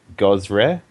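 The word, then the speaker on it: Gozreh: So, Inquisitor Mason is a Tango Inquisitor for Gosre.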